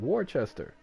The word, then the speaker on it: Worcester: seven is actually Worcester but everyone will say Worchester and I'm like where is the H bro there's no h why are you calling it Worchester but I only know this cuz I'm from